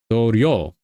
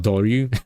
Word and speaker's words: Dorio: Wait, Dorio. Not Doryu. I've been saying it wrong this entire time.